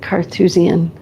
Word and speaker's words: Carthusian: know what a is Carthusian just like Carthage?